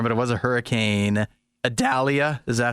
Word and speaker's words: Idalia: Idalia, is that how you say it?